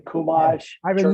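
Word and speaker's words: חומש: Chumash, I've been church mosh.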